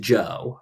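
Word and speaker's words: Zhou: Z hou but uh it's pronounced Joe like Joseph um which is one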